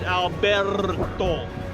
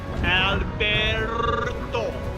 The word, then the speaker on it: Alberto: So I still need to roll my R's. Alberto. Alberto. There we go.